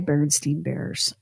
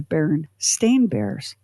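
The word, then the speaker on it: Berenstain Bears: When I remember the first time I saw, so I grew up with the Berenstein Bears, and I had gotten a bunch of Berenstein Bear books handed down to me from an older cousin.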